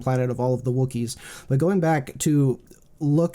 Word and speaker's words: Wookiee: chewie like you know is it rhymes with cookie that's worth somehow yeah